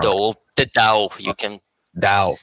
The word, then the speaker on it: DAO: Is it by the correct pronunciation, the dough? Yes, it's the All right. DAO.